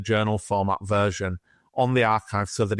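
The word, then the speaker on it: arXiv: been put in the is it the ariv is that how you pronounce it so so archive a rxiv now this is well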